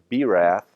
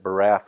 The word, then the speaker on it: Birath: have been for Edna Berath, I pronounced it Barath once, and I got corrected by a dentist who, I